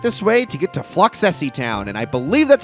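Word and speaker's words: Floccesy: Continue straight this way to get to Floxessie Town, and I believe that's how you pronounce it. Again, some people say Flocessie. I think it's Floxessie with the two C's.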